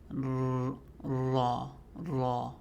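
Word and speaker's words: ر: One of the mistakes that I hear a lot of people make, even professional reciters, is they roll the R sound. roll the raw sound and say maybe not that exaggerated but there should be no rolling on the so would be making sure you smile because it's light also very tough one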